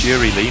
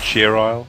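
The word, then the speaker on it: Cheerilee: Oh, it's Cheery Lee, not Cheer Isle? I'm sorry. But what? But it's like Lee has two E's, like how you typed it, so...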